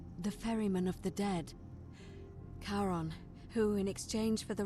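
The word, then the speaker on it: Charon: It's just as you described it, only your pronunciation is a little off. The name you heard wasn't Karen. It was C H A R O N as in Kon, the fairerryyman of the dead. Karon, who in exchange for the right coin, helps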